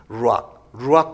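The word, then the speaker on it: רוח: 루악 커피라고 있잖아요. 고양이 분비물 지나온 그 커피를 그 루악 똑같은 발음인데 루악 하나님의 영 성령이에요.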